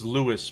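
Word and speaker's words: Louis: It's Lewis Pole. Same name as Bloom. L-O-U-I-S. Lewis Pole, okay.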